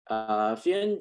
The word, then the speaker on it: Fien: Like you just mentioned, I'm from the Netherlands, so it's called Fien, but I don't expect people to be able to pronounce it fully.